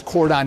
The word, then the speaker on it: cordoned: public can access this cordoned area. Yeah, that was the part I wanted to play. What's the word? How do you pronounce it? Cordoned. Yes. Yeah. Rhymes with Gordoned.